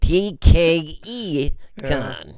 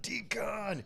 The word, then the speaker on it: DKE Con: I mean, yeah, he's like, no, it's not decon, it's DKE Con.